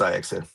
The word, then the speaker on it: Ajax: Yeah, it's spelled nice, Ajax, but it's pronounced Ajax.